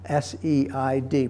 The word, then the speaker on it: SEID: And so they suggested using this term and calling it SEID. That's the acronym, S-E-I-D, pronounced SEID.